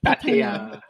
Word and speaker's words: Pattaya: Like when you hear a foreigner pronounce Pattaya. It's Pattaya. Pattaya.